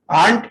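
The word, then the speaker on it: aunt: आंट, इसको आंट बोला जाता है, आर साइलेंट रहता है।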